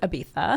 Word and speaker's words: Ibiza: They were in Ibiza and Say it right. Ibiza. Thank you. I'll say it like Julianne Moore. Put some heart into it. Ibiza.